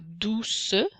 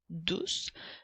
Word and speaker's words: douce: Et le son S s'écrit avec les lettres CE. Rappelle-toi que nous ne disons pas douce, mais bien douce. Le E étant là pour faire chanter la lettre C.